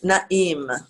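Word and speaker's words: נעים: Yes, umanaim, naim. Im. Now the little apostrophe means that there's a break in it. It doesn't just glide. Naim. Im. Yeah, it's 2 syllables.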